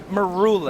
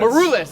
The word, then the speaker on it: Maroulis: How do you say that last name? Maroulis. Maroulis. It's Greek. Because I rule in the middle of it.